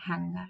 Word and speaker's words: hanger: We don't have to pronounce the g. Singer. Just the schwa. Singer, hanger, longish.